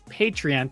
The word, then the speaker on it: Patreon: we are on patreon that's how you say it you say it like that it's patreon thank you so much